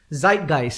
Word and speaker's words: Zeitgeist: in the memory of that era you know zeitgeist that's how it's pronounced yeah zeitgeist right guys yeah it's embedded